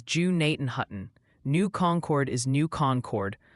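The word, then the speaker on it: Gnadenhutten: The Ohio Pronunciation Academy called Gennaden Hutton is Jew Nathan Hutton.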